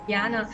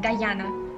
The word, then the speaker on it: Dayana: I don't know why many people think that my name is pronounced like Dayana or Diana, but my name is pronounced like Dayana.